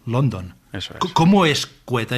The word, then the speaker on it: Quetta: Creo que se pronuncia Quetta, sí.